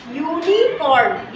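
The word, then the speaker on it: unicorn: में आया अब देखो आई सॉ डैश यूनिकॉर्न ये भी यू से ही स्टार्ट हो रहा है लेकिन यहां पे क्या आवाज आ रही है यू य यू तो यू क्या है व्यंजन है ये वाला यू क्या है व्यंजन है रा लाव आता है य य व्यंजन है य में उ की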